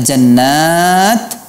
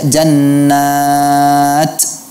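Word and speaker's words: جنة: syin ya seperti itu pada kata Jannah seharusnya tidak adalah sopir Bukan dibaca jannat tidak seperti itu ya kemudian = padamu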